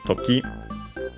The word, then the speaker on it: toki: In this case, then we have the noun toki, which means time, accent on the last syllable.